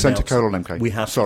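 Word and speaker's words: Centre:MK: name of the centre, we have to pronounce... Centre colon MK. We have to pronounce the colon. So centre, it's not centre MK, it's centre colon MK.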